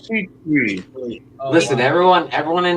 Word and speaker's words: Kuechly: Wait, I think Steve I thought it was Keeley. I've been pronouncing his name Luke Keeley. It's Keith. Luke Kuechly.